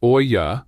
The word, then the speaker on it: Olla: An Ola, pronounced Oya, is a simple unglazed terracotta clay pot.